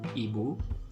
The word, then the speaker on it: ibu: be you okay so the pronunciation would be ebu and then the second